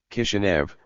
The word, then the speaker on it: Kishinev: The name of Chisinau, made into the new Soviet National Republic's capital, was transliterated from Moldavian Cyrillic, as Chisinau. The pronunciation of both versions remained identical, though the city became popularly known under the Russian variety of its name, Kishinev, due to the